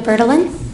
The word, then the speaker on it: Bertalan: people - you state your name please bertolon okay and virtuality would spell that last name BER tal aan and at